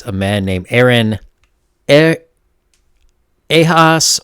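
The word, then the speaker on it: Ehasz: man named Aaron Eyre a hoss or I believe it's more of a Hungarian pronunciation Haas I don't know I'm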